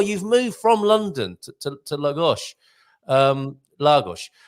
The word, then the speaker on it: Lagos: And there you are, you've moved from London to Lagos. Lagos. How do you say it, Clive? Yeah, it's Lagos. So it's like a gosh, like golly gosh.